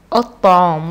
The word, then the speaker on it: الطعام: الطعام، وشوف انا ما نطقتش اللام، يبقى اللام دي لام ايه؟ لام شمسية، تكتب ولا تنطق، ودايما الحرف اللي بعديها سنة تالتة بيبقى عليه شدة.